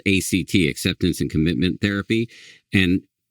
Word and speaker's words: ACT: But ACT, it's pronounced one word.